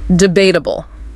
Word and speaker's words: debatable: Number one, debatable. Debatable. Stress on that second syllable.